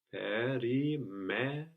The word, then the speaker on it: περιμέναμε: We're going to have the accent third from the end. Περιμέναμε.